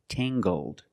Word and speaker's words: tangled: Using the nasal m sound and the hard gang gggg- tangled. Her hair is very tangled.